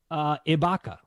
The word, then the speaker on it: Ibaka: Ibaka.